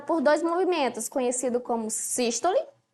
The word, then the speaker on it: sístole: dois movimentos conhecido como sístole e diástole presta atenção na pronúncia sístole cisto lema pronúncia fechada sístole o coração tá contraído